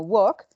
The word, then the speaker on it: walk: que tienen la l yo no pronunció la l entonces no voy a decir walk sino work no digo talk si